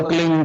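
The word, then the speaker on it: क्लीं: एक शब्द क्लिंग शब्द, क्या आधा ला में मिला हुआ, बड़ी की मात्रा और बिंदी, उसका उच्चारण होगा क्लिंग गा की ध्वनि निकलेगी पीछे।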